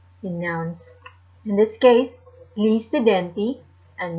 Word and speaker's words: gli studenti: In this case, gli studenti, and the G is silent for plural of students.